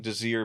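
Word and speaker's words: Désiré: Well, the there's an accent on the E, so I assume that it's voiced, but anyway.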